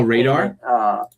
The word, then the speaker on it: RADR: Oh, Radar. I guess we pronounce it Radar, but the ticker's RADR.